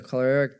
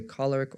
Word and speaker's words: choleric: Enthusiasm, energy, intelligence, and a strong will combine to make the choleric temperament. You could say choleric or choleric. Both are correct pronunciations.